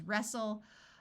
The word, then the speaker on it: wrestle: like in Castle wrestle note that when a word starts with w r the W is silent so this word is wrestle Apostle and whistle words